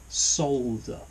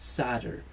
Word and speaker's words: solder: He does actually pronounce it the correct English way. Solder. Solder. Not sadder.